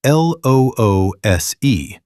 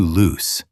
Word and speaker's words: loose: If it rhymes with moose or goose, it's loose the adjective.